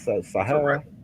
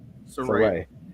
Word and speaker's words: Saraya: Saraya or Sahara? Saraya. Saraya. It's like Saraya. Okay. With an A at the end.